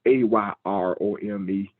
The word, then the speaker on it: erom: And it is spelled EROM. And when you look at EROM, it's pronounced AYROME.